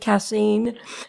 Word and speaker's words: casein: And I believe that you stated that casein, is that how you pronounce it? Casein?